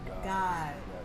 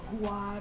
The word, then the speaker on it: Gawd: Gawd or God. God, but it's God.